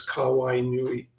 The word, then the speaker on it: Kauai Nui: And really, again, really quickly, Hawaiian is very phonetic. And so if you break everything down into syllables, it becomes easier to see. So it's Kauai Nui.